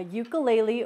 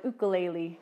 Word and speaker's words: ukulele: The first one is an instrument called a ukulele or an ukulele. Kind of depends how you say it.